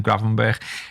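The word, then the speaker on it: Gravenberch: And you've got Ravenberg. How do you say his name? Gravenberg.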